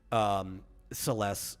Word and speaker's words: Celes: Celis Share from Final Fantasy VI. Oh yeah. Celeste is how a lot of people say it. Probably Celis is probably more correct because it's one of those weird localizations where the